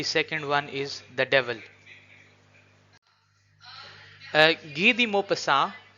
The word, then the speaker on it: Guy de Maupassant: Guy de Maupassant, this is the French pronunciation of his word.